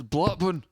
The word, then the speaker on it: Blackburn: Because we say it somewhat phonetically. They don't have an R in it. It's Blackburn.